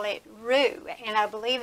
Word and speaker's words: roux: a lot of chefs and people call it Roux and I believe it's spelled r-o-u-x what it is is you're making